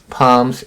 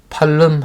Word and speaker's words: palm: the garden, and lofty palms stood by the gate. 단어 볼게요. grow 하면은 자라다. 과거형 grew, 과거분사 grown. lofty 아까 나왔었죠? 고상한. palm 하면 종려나무. L이 묵음입니다. 소리가 나지 않아요. 팔름 하시면 안 돼요.